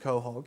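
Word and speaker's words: quahog: rarest Pearl on Earth coh hog pearls as as you can see pronounced Cog yeah I actually get it's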